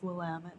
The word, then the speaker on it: Willamette: the Willamette Valley which is like a common mispronunciation of Willamette you know did you notice that oh no I know that it's Willamette though yeah the Willamette like pretty much anyone